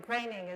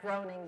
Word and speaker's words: Groening: cooler I'm not growing craning is how you actually pronounce the German this is grainy but he also says Matt Groening because that's how people recognize him he's one who created